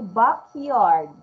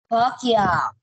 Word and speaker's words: backyard: Can you pronounce the D? Backyard. Backyard.